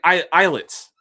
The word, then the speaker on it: Islets: U, but I will be starting um, I'll be starting eyelets. uh spelled Isllets, but it's pronounced Islets.